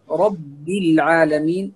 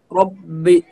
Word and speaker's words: رب العالمين: وأيضا الكلمة التي بعدها رب العالمين، هنا رب، هنا تفخيم الراء وتشديد الباء، فنقول را ربي، رب العالمين، رب العالمين. الراء مفخم والباء مشدد مرقق، فنقول ولا نقول ربي، ربي، فهنا يكون الباء كأنه مفخما والباء هنا هو مشدد مرقق. فالصحيح يعني نقول رب العالمين.